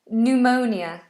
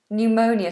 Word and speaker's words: pneumonia: how do you pronounce pneumonia pneumonia so when you're very sick when you're very sick you have fluid on your lungs it's called even though it's spelled with a p that's silent pneumonia pneumonia um could you